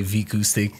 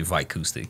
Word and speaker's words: Vicoustic: Yeah, it's a Portuguese thing. So sometimes us Portuguese people will name a business like with an English tone to it, but then we pronounce it as Portuguese. Got it. People, so we say Vicoustic mm-hmm. in Portugal, but most people who speak English will say Vicoustic.